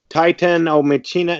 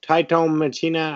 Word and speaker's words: TITANOMACHINA: Let's try it again. TITANOMACHINA? No, TITANOMACHINA. I forget. I keep saying it wrong.